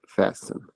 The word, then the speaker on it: fasten: Button आप बंद करने के लिए यूज करते हैं तो उसको उसके लिए लफ्ज होता है फैशन. T is silent.